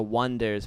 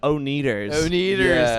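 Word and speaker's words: Oneders: but yeah that's their their name was the wonders but it's spelled o-n-e-d-e-r-s i said it wonders i get it and okay and they were like everyone's calling you the oh needers i could see that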